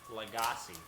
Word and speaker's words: Lagasse: bam i'm rolagassi what's his last name lagasse lagasse yes l-a-g-a-s-s-e cool that helps me pronounce it i spelled it for you that